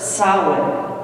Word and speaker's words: Samhain: date back to the ancient Celtic festival of Samhain a Gaelic word pronounced sour the Celts lived 2,000 years ago mostly in